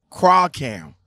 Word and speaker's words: Kreilkamp: in the facebook messenger how do you pronounce the name crowd count craw cam yes okay okay okay yeah